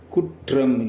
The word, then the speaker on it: குற்றம்: என்றுதான் தமிழில் உச்சரிக்க வேண்டும் அதாவது வல்லின ரகரம் இரட்டித்து வரும்போது அவற்றை உச்சரிக்கும் போது இர்ா என்று உச்சரிக்காமல் இற்றா என்று உச்சரிப்பார்கள் இதுதான் முறை பாருங்கள் குற்றம் என்பதை குற்றம் என்றுதான் உச்சரிக்க வேண்டும்.